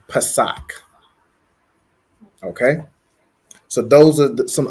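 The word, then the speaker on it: Pesach: write this okay so Passover is Pak so it's going to be Pa a sa a C and it's pronounced Pak okay so those are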